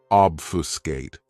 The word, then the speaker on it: obfuscate: This verb has 3 syllables, and the stress is on that first syllable. Obfuscate.